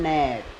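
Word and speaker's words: gnat: बात एन है देखो जी के ठीक बात एन है तो जी साइलेंट रहेगा इसे पढ़ने हैं हम नेस ने इसे क्या पढ़ने हैं जी एन ए टी इसे पढ़ने हैं नेट दी ए एस आई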